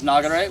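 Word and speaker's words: 流: So ru itself can also be pronounced as nagare, which means flow.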